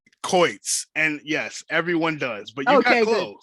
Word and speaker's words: Choitz: fellow Visionary and it's nope I say your last name wrong every time coits and yes everyone does